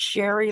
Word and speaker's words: Sherry: I tell people all the time, it's Sherry like Mary.